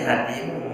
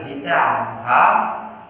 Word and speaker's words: hatimu: Ya bacanya hatimu bukan baca hitam, enggak da ya mim